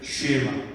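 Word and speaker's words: שמע: 그래서 들어라라는 말을 슈에마 혹은 슈마라고 발음할 수 있는데, 이것이 히브리 사람들이 가장 중요하게 여겼던 하나의 성경 구절이었습니다.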